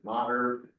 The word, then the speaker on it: Maher: And then Julia Maher, or Maher, that's how you pronounce it, Julie.